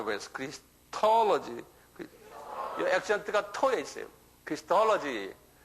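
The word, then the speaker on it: Christology: 토로지 그래서 크리스톨로지 한번 발음해 보겠어. 크리스톨지요 액션트가 토에 있어요. 크리스톨로지.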